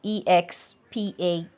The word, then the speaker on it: expatiate: And the first word today is expatiate, expatiate, expatiate, not expatiate. The root word is not from expand.